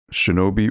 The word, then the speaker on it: shinobi: anyone you're doing both shinobi or shinabi that's a it's a good it's a good debate to have i i would say shinobi i i think that's the correct pronunciation but the iraq's has